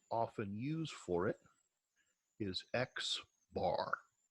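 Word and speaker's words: x̄: that we will often use for it is X bar X with a little bar on top of it it really is technically pronounced X bar as a symbol but that X bar is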